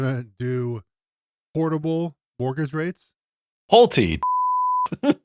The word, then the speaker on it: Pulte: Your boy Plute has suggested that they're going to do portable mortgage rates. Pulte. Not Plute.